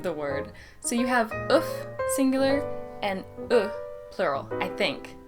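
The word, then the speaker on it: œuf: So you have ouf, singular, and plural, I think. You pronounce the F in the singular form, and you do not pronounce the F or the S in the plural form.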